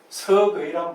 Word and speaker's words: 서거이: 그래서 그 뒤에 이제 가장 정확하게 명나라 때 서거이란 분이 서거역이라고 읽을 수 있겠죠. 근데 이제 사람 이름을 읽을 때는 서거이 이렇게 읽으면 됩니다.